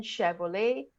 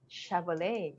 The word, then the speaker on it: Chevrolet: Because, like, uh, I'm trying to think, chair, and then Chevrolet. This is the soft, it comes from French, so it's softer, chair.